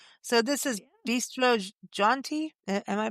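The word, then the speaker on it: Jeanty: I mean, so this is yeah, Bistro Jaunty. Am I yeah. pronouncing that correctly? Bistro Jonte, Oh, and yeah, it's French inspired, and yeah.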